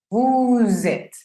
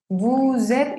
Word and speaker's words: vous êtes: Lo correcto es vous êtes. Vous êtes y suena como z. Esa S al hacer la liaison suena como z. Si yo tengo la palabra vous solita, no pronuncio la S. Esa S es muda. Pero se está encontrando con una palabra que empieza con vocal, por ende va a tomar sonido. Ya va a ser vous êtes.